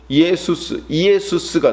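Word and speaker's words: Ἰησοῦς: 이 구약의 히브리어로는 호세아, 여호수아 이 말이 신약에는요 헬라어로 그것을 발음하면 이에수스가 돼요.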